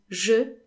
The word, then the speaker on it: je: So, je in French is often pronounced sh. So, for example, instead of saying je fais les courses, I'm doing the shopping, most French people would say je fais les courses, je fais, as if je was spelled S.